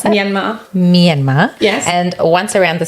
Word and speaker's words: Myanmar: How do you pronounce that? Myanmar.